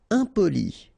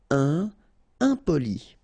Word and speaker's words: impoli: Impoli. Okay, remember, I-M and then a consonant after, so nasal. Impoli.